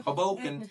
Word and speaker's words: Hoboken: I'm gonna butcher how to pronounce this. Michigan. Hoboken. Thank you. Hoboken.